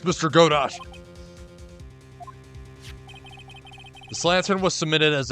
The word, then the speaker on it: Godot: the bloody writing well Godot it was Godot I'm probably saying it wrong it's actually godo but ah whatever I